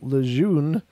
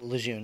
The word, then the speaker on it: Lejeune: A few months later, I was sent to Camp Lejeune, North Carolina. I think that's how you pronounce it. Camp Lejeune, yeah.